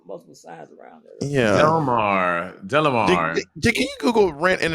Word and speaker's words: Delamar: But then we added an A to the middle, so but it's still pronounced Delmar. It's Delamar.